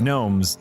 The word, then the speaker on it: gnomes: rappers you know because in Union of gnomes the g is silent the union of gnomes